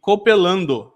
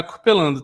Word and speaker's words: Copeland: tá ISTQB e Li Copelando. Não é Copelando, tá bom? É um erro ali na palavra. É Li Copeland. O D é mudo, tá bom? Não tem o O no final.